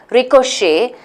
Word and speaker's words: ricochet: CH e T again it has a vowel so it's a three syllable word ricochet with the pronunciation T is silent so which one of